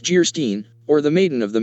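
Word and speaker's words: Geierstein: And of Guyerstein, pronounced Gerstein, or the maiden of the mist, by the author of Waverly.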